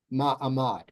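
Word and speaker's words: מעמד: one to be standing ma Amad see it's ma a mod accented in the back this middle part is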